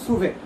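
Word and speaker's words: SUVAT: তার মানে দেখো আমি সুভেট, এটাকে উচ্চারণ বলা হয় হলো সুভেট।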